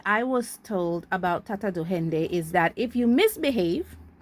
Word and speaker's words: Duende: my Creole culture and I don't say dwende, I say duhende.